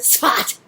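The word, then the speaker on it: Tzfat: The mountain town of Sfat. That's the way they pronounce it, Sfat.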